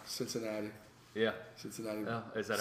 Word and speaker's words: Cincinnati: No, it's Cincinnati. Yeah. Cincinnati. Oh, is that how it's pronounced?